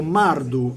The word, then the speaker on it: mardu: realtà viene dall' accadico mardu era scritto ardu ma si legge mardu mardu Che significa sacerdote